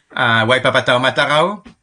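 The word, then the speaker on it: Waipapa Taumata Rau: Waipapa Matarao.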